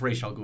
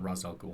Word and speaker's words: Ra's al Ghul: He really is just Ra's al Ghul, and it's Ra's al Ghul. It's not fucking Ra's al Ghul. I don't care what Christopher Nolan says. I get why they pronounce it as Ra's, but it's Ra's. It's full on Ra's, and it's the League